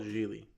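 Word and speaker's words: Gigli: Oh, it's called Geely.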